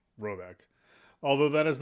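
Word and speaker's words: Råbäck: guard in question is to be called roebuck pronounced something like robec although that is not its name it is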